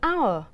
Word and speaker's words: hour: Và cuối cùng, chữ H trong chữ hour là âm câm.